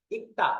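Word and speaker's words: 읽다: ইক্তা এভাবে মুখস্ত করবেন ইক্তা থেকে ইলবুসে প্রথমে এটা শুধু গিউ উচ্চারণ হয়েছে লিউল উচ্চারণ হয় নাই ইক্তা ইক্তা এরপরে যখন এরপরে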